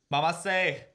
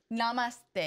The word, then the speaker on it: namaste: Mamaste. Is that how they say it? Mamaste? Namaste. Namaste. Oh, what is this?